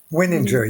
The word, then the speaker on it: Wininger: Am I pronouncing that right? Wininger or? Wininger, yes. Wininger, cool.